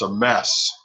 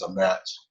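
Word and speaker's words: אמת: to an Ashkenazi pronunciation, she says Torah's a mess. There's that tav gets pronounced as an S in the Ashkenazi pronunciation. Now we follow Sephardic, which is what is used in Israel today, and it is a met.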